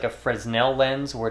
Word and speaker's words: Fresnel: more almost like a Fresnel lens where it's really going to spread that light out. Uh it might be frenel, right? I think the S is silent on that.